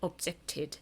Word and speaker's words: objected: 그래서 t로 끝나면 그 ed를 id 이렇게 발음하겠대요. 근데 생각해보면 이게 object t로 끝나는데 t를 또 한다고 생각하면 object 이상하잖아요. 그래서 objected 이게 그냥 자연스럽습니다.